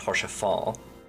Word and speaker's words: Hoshafant: Also, if I recall correctly from a cutscene, I believe his name is pronounced Hoshafant. It's Hoshafant. You'll hear it very often in cutscenes going forward. Yeah, because I think to recall, Sir Amaric was speaking the T silent. Yeah, I mean the T's either pronounced or silent depending on who's speaking it actually, because Count Edmund and Amaric pronounce it differently.